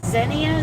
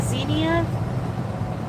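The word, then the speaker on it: Xenia: Is that pronounced Zenia? X E N I A Zenia. Zenia.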